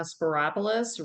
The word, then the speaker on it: Spyropoulos: voters um I'm speropoulos really easy name it rhymes with Metropolis um I am currently